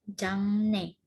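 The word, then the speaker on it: 장래: Ini bacanya jangne.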